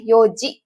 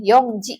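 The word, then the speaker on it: 四時: kepala gitu ya kalau jam adalah Yoji ya bukan Yong Ji ya atau E apa ya siji gitu ya tapi Yoji ya lalu di sini ada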